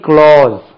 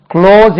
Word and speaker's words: clause: அது main க்ளோஸ், அதுக்கு உச்சரிப்பு அடிக்கடி நான் சொல்வது உண்டு, CLAUSE, க்ளோஸ் என்று உச்சரிக்கணும். இது க்ளோஸ், அது கிளாஸ் என்று உச்சரிக்க கூடாது.